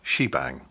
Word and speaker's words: shebang: The combination of the sharp sign and the exclamation mark, sometimes pronounced bang, is pronounced together, she bang.